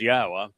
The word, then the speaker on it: Yahweh: So it is Yahweh and the beloved son writes, "Yahwah reigns by guiding Malc as king in charge